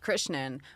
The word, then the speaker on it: Krishnan: It's funny because like my last name is Krishnan and it's pronounced Krishnan, but everyone thinks that that's maybe the Americanized version.